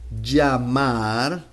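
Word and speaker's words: llamar: thing here we have in Spanish LL and Y and both of them sounds like J if I say Jamar uh let's let's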